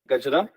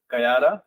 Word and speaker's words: Gajara: my name is gaja I put a little more emphasis on the last name because I understand that it's Germany and people would usually pronounce it as Kara but that's not the case but you can butcher